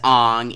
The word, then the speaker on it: Aang: Therefore, Iroh is Iro, Sokka is Sokka, Aang is Ong, and even Avatar is now Avatar.